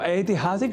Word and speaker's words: ऐतिहासिक: तो ऐतिहासिक शब्द का शुद्ध उच्चारण और भी दृढ़ हो, एतदर्थ कुछ वाक्यों का अभ्यास कर लेते हैं।